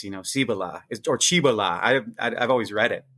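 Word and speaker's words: Cibola: these seven cities, you know, Cibila is or Chibila. I I've always read it. Do you know how to pronounce that by the way? Is it Chiba? Cibila.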